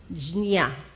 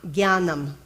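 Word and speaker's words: ज्ञानम्: You can pronounce it more as it looks like the original roots of it as a jia sound, and some scholars do that. Our dear friend Devenji, I meant to ask him, but he had to leave. to pronounce it nicely for us that way. Jnya. But I say gya, gyanam. And that's Gyanam. what I am more familiar with.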